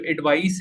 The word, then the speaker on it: advice: अब दोनों को अगर प्रोनाउंसिएशन में मैं आपको क्लियर कर दूं तो जो एडवाइस है, the first one, ADVICE, it rhymes with माइस।